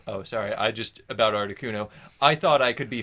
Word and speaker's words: Articuno: um let's see number two i think is articuno because i don't know it was that was my favorite bird because yeah it's pronounced arctic 1-0 1-0 yeah it uh it